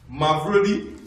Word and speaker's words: Mavrodi: It is a Russian name. Mavrodi. Yes, Mavrodi. Yes, it's 3-syllabic word.